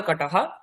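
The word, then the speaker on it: কটঃ: আগে আমরা পড়েছি এই শব্দগুলির আগে এই তালিকাতে ডোর ম্যাট পাদা কাটাহা।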